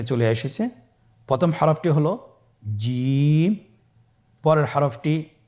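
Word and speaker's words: ج: চেষ্টা করুন হয়ে যাবে এর মাখরাজ হলো জিহ্বার মধ্যখান তার বরাবর উপরের তালুর সঙ্গে লাগিয়ে উচ্চারিত হয় আপনারা পিকচারে ছবিতে দেখতে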